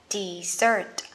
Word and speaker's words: dessert: Vậy các bạn nhớ nha, sa mạc một chữ S sẽ đọc là desert. Còn món tráng miệng của mình hai chữ S, cái này sẽ đọc là dessert.